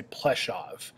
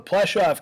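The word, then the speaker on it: Płaszów: how I'm pronouncing that the W in German gets a v sound so I say plov and that's how you'll hear it pronounced in the film so the plov camp in Poland is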